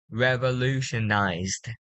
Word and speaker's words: revolutionized: So the first word, you just have to pay attention to the final sound. So here we're gonna have to pronounce revolutionized. Revolutionize. One more time. It will be the letter D.